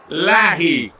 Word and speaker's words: Leahy: He would tell you the actual pronunciation is Lahi. But we're going with Leahy, folks.